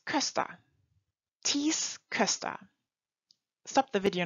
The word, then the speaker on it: Köster: Wie schreibt man die Namen? Thies Köster.